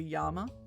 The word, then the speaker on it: llama: Double L is pronounced like Y. But other than that, uh, you're doing pretty good with a Spanish. So if they saw the word llama, they'd call it a yama.